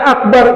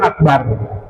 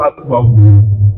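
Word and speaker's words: أكبر: Dan akbar itu rnya tafhim, rnya tebal. Bagaimana agar membedakan ro yang tebal tafhim dengan tarkib ketika pelafalannya mulutnya dimanyunk. Jangan nyengir. Kalau tarkik tipis itu begini. Allahu akbar bar. Tapi kalau tebal Allahu Akbar mulutnya manyur agar bunyinya jadi Allahu Akbar. Kalau yang nyengir Allahu Akbar.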